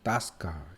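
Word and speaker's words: тоска: 있기는 이제 또 스카이에서 침에 엑센트가 뒤에 있어요 엑센트가 뒤에 힘쓰면 5가 아 발음합니다 그래서 따 스 카 이렇게 되는 거예요 그래서 어 향수 향수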